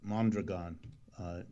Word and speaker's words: Mondragon: yeah well let me correct you about mondragon that which is by the way how it's pronounced mondragon has multiple parts